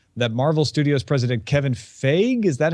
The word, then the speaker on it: Feige: the IO9 article that Marvel Studios president Kevin Feige, is that how you say his name? F-E-I-G-E?